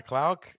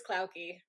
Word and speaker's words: Klaucke: Today we have Klaucke. I didn't ask her if I was pronouncing that correctly before we started recording. Is that right? It's Klaucke, but close. Klaucke. Yeah, I am wrong.